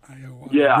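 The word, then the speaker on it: Ayoade: I can never pronounce Iowade? It's Iowade.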